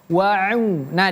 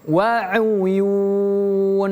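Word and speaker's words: وَعُيُونٍ: Innal muttaqina fiilal waun wau. Nah, di sini kita bertemu dengan huruf ain. Huruf ain berbeda dengan huruf hamzah ataupun alif. Jadi bacanya wau wau wau ya bukan waun tapi wauyun.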